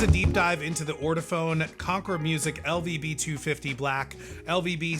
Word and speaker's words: Ortofon: It's pronounced orafhone.